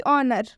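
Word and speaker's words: honour: जैसे कि ऑनर, काफ़ी सारे स्टूडेंट्स इसमें गलती करते हैं, इन सारे वर्ड्स में गलती करते हैं, सब में एच का प्रोनाउंसिएशन कर देते हैं, जिनकी वजह से उनका प्रोनाउंसिएशन गलत हो जाता है। लेकिन आपको ये गलती नहीं करनी है। एच के बाद से कभी भी अगर ओ आता है तो हम उस एच का उच्चारण नहीं करेंगे, इसे हम पढ़ेंगे ऑनर,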